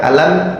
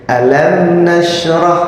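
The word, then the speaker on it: ألم: yang pertama alam pokoknya waktu mengucapkan alam jangan ditahan langsung saja alam gitu ya Coba ayat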